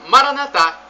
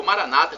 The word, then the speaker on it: Maranatá: E Maranatá, como dizemos nós católicos, ou Maranata, como dizem nossos irmãos separados, os evangélicos ou protestantes. Não importa a pronúncia, o significado é o mesmo.